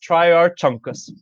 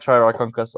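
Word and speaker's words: Trierarchuncus: Hell Creek Alvarezsaur, Triarchunkus, which many people have said could also be pronounced Triarchunkus. Oh yeah. Please go jump into a fiery pit. Yes, those people are objectively wrong, but Triarchunkus, which means, are you ready for it?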